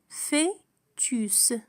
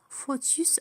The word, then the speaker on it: fœtus: Fœtus, fœtus هو الجنين. هذه الكلمة غالبا ما ينطقها الكثيرون خاطئة رغم أنها تكتب أو أو لكنها تنطق في. fœtus وليس فوتوس أو fœtus.